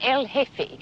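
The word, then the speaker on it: el jefe: The J is silent. El hefe.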